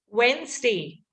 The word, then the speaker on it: Wednesday: So the D and also the second E is not there, right? Second E also we won't pronounce it. So what can I say? Wednesday. Wednesday. Right? The second E also not really there. I didn't say Wednesday, right? I just said Wednesday.